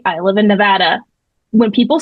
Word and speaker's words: Nevada: I think there's a Nevada, Missouri, if I'm not mistaken. I lived in Arkansas, but that's how they pronounce it. Nevada. It's not Nevada.